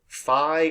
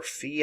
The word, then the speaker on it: phi: but the symbol for magnetic flux is either phi or phi i pronounce both ways i usually say phi so